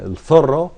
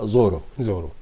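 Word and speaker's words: Zorro: أبرزها وأشهرها كثيرا وهو الثرو أو الذي ننطقه هنا زورو.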